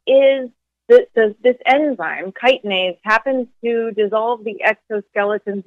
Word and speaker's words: chitinase: spelled with a ch like chitinase but it's pronounced chitinase for those who have not really seen that in writing anywhere and it is this does this enzyme chitinase happens to dissolve the exoskeletons of soft-bodied insects